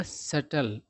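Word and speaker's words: subtle: कह रहा है कि इन अ सटल इसको सटल पढ़ा जाता है। बी का उच्चारण नहीं किया जाता है।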